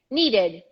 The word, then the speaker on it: needed: also include the e pronounce the e and include the d at the end needed needed needed needed right